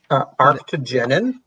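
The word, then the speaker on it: arctigenin: Arctogenin.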